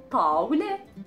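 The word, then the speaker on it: طاولة: Tawle, tawle, tawle. So tawle. Tawle, then it means the L and then the T marboota at the end, so we had the pronunciation of an A. Tawle.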